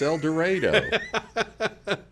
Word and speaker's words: El Dorado: You're gonna need to bring it back from the Queen's English into Southern Illinois. It's English not here. El Dorado. It's El Dorado.